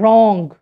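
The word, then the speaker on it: wrong: हम silent word like डब्ल्यू आर ओ एन जी सी उर रॉन्ग डब्लू silent hair rate vessel hair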